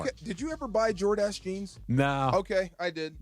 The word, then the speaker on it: Jordache: Jordache is the name, right?